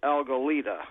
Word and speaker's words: Algalita: aren't I yeah uh the Spanish for kelp is alga and we're a little kelp plant we're Alita and our Research Foundation is algalita all right and he's